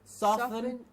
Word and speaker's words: soften: influence of Britain and America who would say soften and often, but that's a very small percentage, and we do not need to follow that. We will stick to the standard pronunciation and say soften and often.